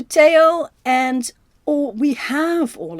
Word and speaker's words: Theo: Vincent also wrote a lot of letters to his brother Teao. Uh he's always called Theo in the films, but his name is Teao. H to Teao.